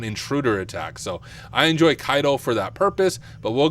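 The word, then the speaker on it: Caido: you can use burp Suite I personally prefer KO so that is what I'm going to use her it's actually pronounced kaido I realized I've been saying it wrong this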